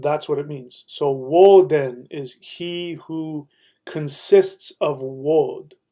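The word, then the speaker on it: Woden: basics in case you don't know so oin Odin is the pronunciation uh of the Scandinavian uh people but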